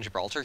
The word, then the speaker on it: Gibraltar: If we can get, like, a quick invasion on Gibraltar here, Gibraltar. Pronounce the G.